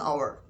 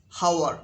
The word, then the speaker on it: hour: hour an hour like starting letter is silent an hour we don't say how we say hour okay